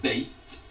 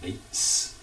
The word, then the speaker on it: Bate: It was Tyler Bate. I say it like that because JR kept calling him Tyler Bates throughout the match.